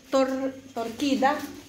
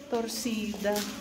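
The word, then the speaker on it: torcida: Pag may ganun sa baba s yun pag binasa. Pagka ganyan lang si talaga torsida.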